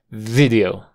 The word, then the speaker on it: video: post video video video el sonido en la primera sílaba es una corta video video y no te complicas con la forma débil que puedes pronunciarlo con acortas shas video video sí video Esa d es una flap una d rápida video video video for